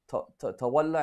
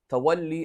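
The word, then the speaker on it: تولّي: Tawalla and tabarra is not correct. It's a mispronunciation. Tawalli and tabarri, that's the correct word, okay?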